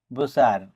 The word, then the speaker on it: butcher: BUTCHER বুচার অর্থ কসাই বা মাংস বিক্রেতা। এই ওয়ার্ডটিতে টি এর পরে CH থাকার কারণে টি লেটারটি সাইলেন্ট আছে।